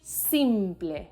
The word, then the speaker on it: simple: taxi number four simple in english the last e disappears completely but in spanish it's actually the opposite simply in this case the emphasis is on the first syllable so pay extra attention to the i sound it's very simple es